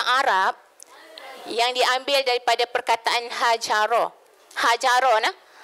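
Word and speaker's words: هجر: Ejaan dia menggunakan huruf ha, ha bulat tu, ha simpul. Bukan ha yang pedas tu. Kalau ha pedas tu dia ubah makna dah. Jadi hajara, ha jim ra.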